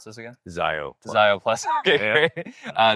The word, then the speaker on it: Szio+: Zio plus. Okay, great. Uh the S is silent.